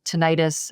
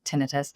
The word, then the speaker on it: tinnitus: will get questions about tinnitus, which is sometimes pronounced tinnitus, and there's not an agreement in the world about which way you say that.